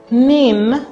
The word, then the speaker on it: NIN: is going and out the national identification number pronounced nin is what identifies an